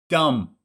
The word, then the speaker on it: dumb: Dumb. Now pay attention. Do you pronounce the B at the end? Dumb. No, that's a silent B.